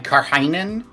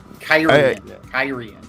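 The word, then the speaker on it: Cairhien: Hey, Tom, how did you pronounce Kyrian in your head before you heard it? Oh man, Karhainen. Karhain or something. I did. Yeah. Karhain. That's awesome. Yeah. Kyrian.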